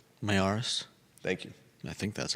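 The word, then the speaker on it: Miyares: external review commissioned by Virginia Attorney General Jason Myers. I always mess up his last name. Mayaris.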